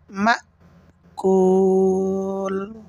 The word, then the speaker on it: مأكول: গুণনা হরফ এক আলিফ গুণনা করতে হবে কাউসফিম মাকুল মিম হামজা জবর মা আওয়াজটা শক্ত হবে হলকের শুরু থেকে হামজা উচ্চারণ হয় সেখানে আওয়াজটা বন্ধ হয়ে যাবে আর